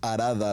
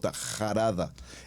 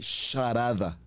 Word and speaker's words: Harada: Esta palabra arada como suena con letra H. Cuando la leemos en el hebreo, más que arada, la pronunciaríamos como una jarada. E incluso en algunas expresiones, si miramos un poco más con detenimiento el hebreo, nos hablan de sharada.